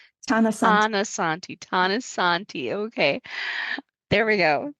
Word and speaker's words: Tanasathi: The T is aspirated. So it doesn't sound like a th tananti. Tanosanti.